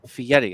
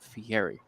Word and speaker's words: Fieri: of the last episodes apparently it's Fieri it's not Fieri uh as everyone knows